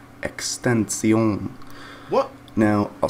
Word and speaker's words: XXXTentacion: with that being said the proper way to pronounce his name would actually be with a french accent extension what now i'll spell